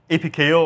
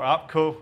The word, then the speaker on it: apko: the Alpine tooling and apko or appco I'm I kind of rotate between saying the two myself so I'm not sure there is an official pronunciation but what app code